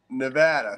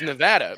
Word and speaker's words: Nevada: want Jerry Jerry how about Jerry coming from Nevada Nevada whatever comes down here he came last